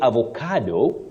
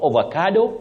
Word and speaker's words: avocado: have opio moral one you say avocado not avocado and not avocado liutenant you can also